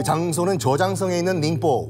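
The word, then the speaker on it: 寧波: 그 장소는 저장성에 있는 닝포, 우리 발음으로 영파라는 도시죠.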